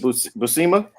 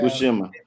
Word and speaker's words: Buscema: Is it Buscema? Is that how you pronounce it? John Buscema. Buscema. I say Buscema. Yeah. Buscema.